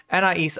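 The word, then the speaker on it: Anaïs: I just needed one more syllable there. Anais, iDubbbz wife, is who we're talking about.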